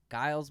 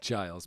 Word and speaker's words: Giles: it is done by Guiles Martin is that correct Giles but yes yes Giles thank you for the